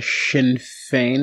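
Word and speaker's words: Sinn Féin: in parliament was that the shin feign and am i saying that correctly you are saying it correctly yes that was the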